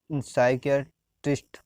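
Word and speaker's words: psychiatrist: P silent, P silent कब है? जैसे साई का मतलब साइक्यो, साइकियाट्रिस्ट मतलब, साइकियाट्रिस्ट मतलब मनोचिकित्सक, जैसे साइकोलॉजिस्ट बोलते हैं अपने, पर उसका मतलब साइकियाट्रिस्ट, साइकियाट्रिस्ट है।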